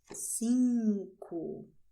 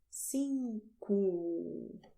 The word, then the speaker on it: cinco: Pay attention to the sounds because I pronounced which is very nasal because Portuguese is a nasal language.